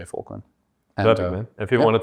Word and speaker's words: Volkwyn: It's actually Volkwyn, guys. Just so everybody knows, it's like Afrikaans Dutch.